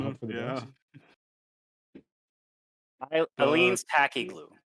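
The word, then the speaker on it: Aleene's: Eileen's tacky glue. Eileen's? Yeah, but it's spelled like an A.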